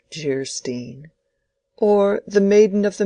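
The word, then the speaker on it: Geierstein: Anne of Gastein, pronounced Jerstein, or the maiden of the mist by the author of Waverly.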